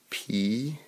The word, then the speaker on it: please: This one we have P-L-E-A-S-E, so we have the S-E, but the word is pronounced please, please. Say that with me, please. Is that s or is it z? Please. That makes the Z-E sound, doesn't it?